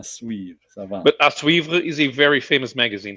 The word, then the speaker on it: à suivre: Okay, it's à suivre. À suivre.